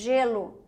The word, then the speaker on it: gelo: G gato aqui J gelo é é a letra g mas onde que é o som J aqui ó não é aqui você não fala Guelo você fala Guelo Guelo não você fala gelo geladeira jarro tá esse